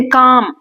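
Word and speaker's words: calm: Then काम इसमें L pronounce नहीं करते।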